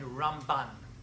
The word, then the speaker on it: Ramban: rambam now the ramban hear the pronunciation difference it's rambam and ramban that's how you hear the difference when you hear people